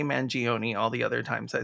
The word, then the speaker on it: Mangione: But when Luigi Mangione did exactly that, is it Mangione? I think it's Mangione. Maybe it's how does he pronounce It's so Italian. Mangione? Yeah, am I gonna get mad? Mangione. Am I gonna get some Oh, pennies in my comments? it's Mangione according to Mangione.